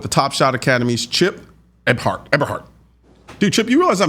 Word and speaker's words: Eberhart: But how do I go about pronouncing it? Yeah, Eberhart. Eberhart. Okay. Eberhart.